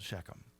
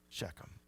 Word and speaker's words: Shechem: in this Valley called shechem and I know that's pronounced a lot of different ways that's how I'm going to pronounce it because I don't have enough phlegm this morning but shechem is a